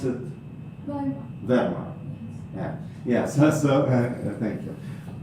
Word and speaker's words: Verma: Yeah, so I mean, you pronounce it Verma.